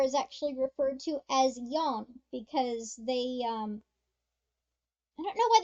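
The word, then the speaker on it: よん: I always hear Yon in anime instead of she. You mean Yon? It's Yon.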